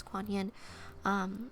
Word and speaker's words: Kuan Yin: So Kuan Yin is like a motherly goddess, and it's different spellings and different pronunciations, but for this one it's Kuan Yin.